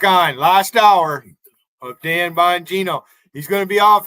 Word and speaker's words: Bongino: So I was quite horrified from, you know, the name like Bongino, where people say Bongino, and you know, they're Bongino. They're not wrong, like bong, right? The bong thing, B-O-N-G, but it was from Buongiorno, so they pronounce it that way.